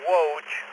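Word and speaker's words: Woj: Kind of I go by Woge W OJ. kind of like that guy on Barney Miller.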